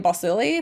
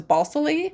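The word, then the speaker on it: Balsillie: silly which his name in the audiobook they pronounced his name bossili but then in the movie he says bossley so balsilia balsely is kind of you know interchangeable I guess I'm not sure anyway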